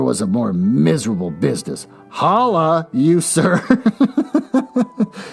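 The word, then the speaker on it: holloa: a more miserable business holla you sir h-o-l-l-o-a it's basically pronounced holla this was addressed to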